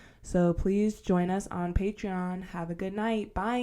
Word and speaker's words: Patreon: So that's pretty much going to be on our Patreon. How do you say that shit? Patreon?